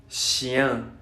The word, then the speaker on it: chien: Una como F muy larga, después una J, una como E mayúscula pero chiquita con un gorrito. Esa es la pronunciación de chien, chien, ¿no?